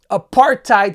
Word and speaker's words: apartheid: Whose fortune comes from apartheid South Africa.